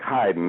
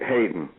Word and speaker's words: Haydn: There's no E in Haydn. It's spelled like Haydn, Haydn.